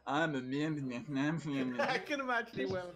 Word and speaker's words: Myrmidon: I can't fucking pronounce it. Myrmidon.